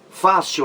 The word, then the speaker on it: fácil: regra a palavra fácil fácil leva acento gráfico porque é uma palavra paroxítona terminada em l a sílaba mais forte é fa Oi siu fah fácil paroxítona terminada em L por